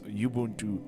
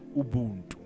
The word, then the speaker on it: Ubuntu: So today I'm going to show you how to install Linux Yubuntu on your computer. Let's get into it. Fun fact, Linux Yubuntu actually takes its name from an African traditional concept called Ubuntu.